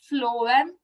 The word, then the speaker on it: phloem: And the trick was phloem food, FF pronunciation, phloem food.